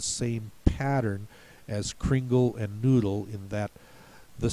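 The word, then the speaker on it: Nudel: more American spelling uh noodle in German is very much follows the rules n u d l uh where the u sound is made with the letter U not the double O as in English the same is true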